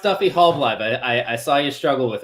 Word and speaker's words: Halbleib: Hey, yeah, it's pronounced Duffy Halbleib.